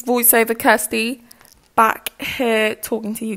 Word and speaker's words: Kirsty: this video and yes my name is Kirsty by the way and it's pronounced as such I realized that I